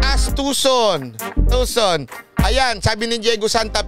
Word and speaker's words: Tucson: Pronounce as Tucson.